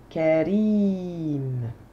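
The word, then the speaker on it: كريم: on est parti noble ça se dit Karim je décortique on entend k r h donc on a trois syllabes dont une qui est prolongée on y va la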